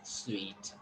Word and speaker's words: sweet: And maybe probably you are going to think it as a suit. Okay, but in fact it is not suit, it is sweet.